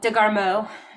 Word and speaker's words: DeGarmo: He said, it's been about 4 years since I worked some with Brandy I don't know how to pronounce her name, DeGarmo? Like Bordeaux, DeGarmo.